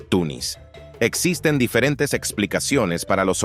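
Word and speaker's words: تونس: la muy similar Tunes Tunes es la transcripción del nombre árabe que se puede pronunciar como tunis existen diferentes explicaciones para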